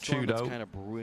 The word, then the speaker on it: 4YDO: That we see for Twisted Minds, if you weren't aware, 4YDO is pronounced Chudo.